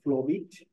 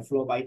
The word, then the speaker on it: Flowbite: তো এই যে এর মধ্যে কয়েকটা কিট হচ্ছে, একটা হচ্ছে ফ্লোবিট বা ফ্লোবাইট অনেক উচ্চারণ করে, আর একটা ডেইজি ইউআই।